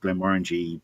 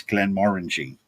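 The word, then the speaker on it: Glenmorangie: But having been in so many rooms with Glen Morangy brand people over the years where they specifically said it's Glen Morangy. It rhymes with orangey and it's a bit orangey and they go brilliant.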